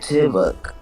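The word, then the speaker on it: dybbuk: debug, That's how it's pronounced. Yibik. Oh, Dibuk.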